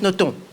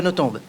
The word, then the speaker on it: Nothomb: Cela se prononce Nothomb, pas Nothomb.